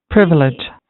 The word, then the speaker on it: privilege: right this is privilege it's like you know this word is the the stress is on the first syllable which is a privilege privilege privilege